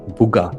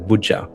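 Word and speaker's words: Boja: They actually instead of a J had made it a G. Bua instead of Buja.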